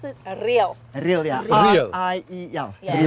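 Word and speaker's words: Riel: dance, yeah, correct, Tell us about, but you pronounce it real.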